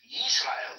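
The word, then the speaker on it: ישראל: So in other words, the New Testament authors, which you believe are all Israelites, they captured the pronunciation of the name of the nation, and it's pronounced Yisrael.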